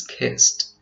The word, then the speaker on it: kissed: right in the past the pronunciation is kissed as in scaped looked and laughed this has to do with the final voiceless consonants the other words are